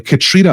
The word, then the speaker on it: Catriona: first things first um am i pronouncing your name properly katrina is that right that's right yes all right to get